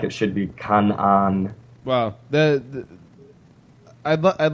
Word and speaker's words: Canaan: does I mean it it has a double A so I pronounce it with a long I call I call it Canan yeah most everyone does